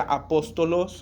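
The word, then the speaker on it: ἀπόστολος: la segunda palabra y esta palabra apóstol en griego se pronuncia apóstolos o se escribe apóstolos y podría traducirse literal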